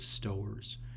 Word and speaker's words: Stowers: Josh, I think he pronounces it Stowers. So we'll go Stowers.